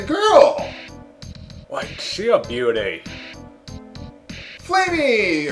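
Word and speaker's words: Flammie: Flamey! Or probably pronounced Flammy, but I'm gonna pronounce it Flamey anyway.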